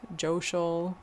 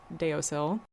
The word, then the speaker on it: deosil: Sunwise, clockwise, joial, which is often mispronounced deosil.